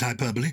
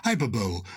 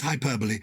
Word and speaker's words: hyperbole: hyperbole i pronounce it hyperbole some people say as in super bowl hyperbole but it is hyperbole why is it hyperbole